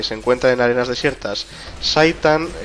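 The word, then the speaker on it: Zhaitan: Saitan vendría a ser la pronunciación de Zaitan, que es lo diré,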